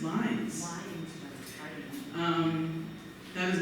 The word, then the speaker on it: Lynds: com no that is and his name is pronounced liines um that is not how he counted Birds